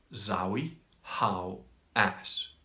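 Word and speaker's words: Zahi Hawass: might be spelt a bit different but the pronunciation just trust me in this it's Zoe how ass that's that's his me and he's locked up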